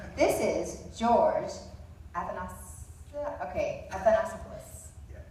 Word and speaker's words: Athanasopoulos: This is George Athanasopoulos. Yeah, Athanasopoulos. Athanasopoulos, I've heard you say it.